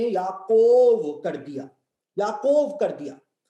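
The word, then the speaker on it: יעקב: देखिए याकूब जो नाम है उसको हिब्रू भाषा में याकव कहते हैं, याकव। इसमें याकोव नहीं कहते हैं, याकव कहते हैं याकूब को।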